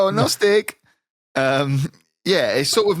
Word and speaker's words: Gnostic: n o s i c I guess it's pronounced gnostic it does it does mention it down here oh notic um yeah it sort of means very Gnostic